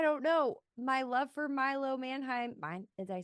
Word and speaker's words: Milo Manheim: And then also, I don't know, my love for Milo Manheim.